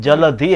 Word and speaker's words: जलधि: वो तरंगा बोलते हैं, बंगा बोलते हैं, सिंध बोलते हैं तो गलत है, वो जल्दी बोलते हैं, जल्दी वर्ड्स है ही नहीं, जलधि है, तरंग है, तरंगा है, बंग है, ये 5-6 प्रोनाउंस जो उच्चार है वो हम उनको सिखाते हैं।